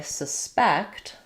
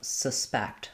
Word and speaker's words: suspect: So, for the verb I suspect suspect my sus is going to be very short and reduced and then my um actually spec is going to be long and clear.